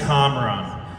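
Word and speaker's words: Kamran: campaign here we go see my name is comron I'm a lifelong Iranian American resident of Westchester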